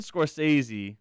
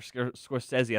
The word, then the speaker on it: Scorsese: So Martin Scorsese, or Scorsese, I think is the correct way to say it.